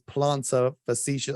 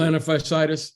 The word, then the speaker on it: plantar fasciitis: And then today he's come out and talked about his plantar fasciitis. I don't know how to pronounce it. Something to do with his heel. Plantar fasciitis.